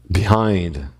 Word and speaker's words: behind: A tônica tá lá marcada no hind.